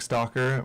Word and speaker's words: Stalker: My name's Stalker. My pronouns are he, him. It's my real last name, and it's spelled like I'm watching you, like not like I'm putting stuff on shelves.